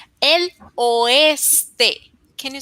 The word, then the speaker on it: oeste: El ostre. El oeste. Can you say it again, please? El oeste. Perfecto pronunciación.